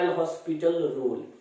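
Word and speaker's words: L'Hôpital: तो सबसे पहला चीज लिखना, इसे हम लोग लिखते हैं एल हॉस्पिटल रूल, जहां पे एच आपका साइलेंट होता है।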